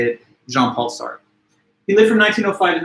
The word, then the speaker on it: Jean-Paul Sartre: Jean-Paul Sartre, it's a French name, so it's got those soft French R's that are kind of hard for the English tongue to pronounce. I even struggle with it, and I took French in high school for a couple of years. Jean-Paul Sartre, something like that, Sartre, like this guttural kind of very soft R.